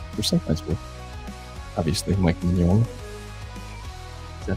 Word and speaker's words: Mignola: Or sometimes with, obviously, Mike Mignola.